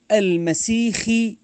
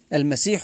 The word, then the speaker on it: المسيح: هو فتنه للناس كفتنه المسخ الدجال بنطقها بوضع الخاء مكان الحاء المسيح الدجال هكذا ورد في الكتاب